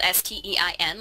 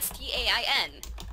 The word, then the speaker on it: Berenstain: Some people think it's spelled Stein, like Stein, Berenstain Bears. And then some It is. people say it's Stain. But if you Google it, it's Stain.